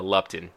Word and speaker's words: Lupton: Lupton.